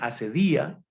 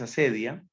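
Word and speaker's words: acedia: La asedia, unos también la acentúan asedía, pero la pronunciación más común es asedia.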